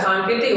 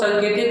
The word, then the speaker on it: सांकेतिक: के सभी क्या है सांकेतिक भाषा के उदाहरण है अब कुछ लोग संकेतिक बोलते हैं संकेतिक नहीं सांकेतिक है क्या है सांकेतिक है